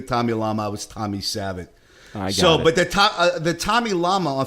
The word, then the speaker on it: Savitt: Lama, I was Tommy Savitt. But the Tommy Lama on Facebook page is at Hey Tommy Savitt. 2 T's at the end. The first T is silent.